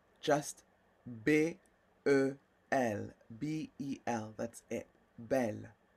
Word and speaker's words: belle: Belle. Like un bel homme, right? Idris Elba est un bel homme. Oh, yes, yes. He's a handsome man. And then for feminine, it's belle. Same pronunciation, different spelling.